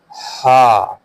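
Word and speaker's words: ح: The next is ha, ha, ha. As we have mentioned before, that ha is a part of throatal letter.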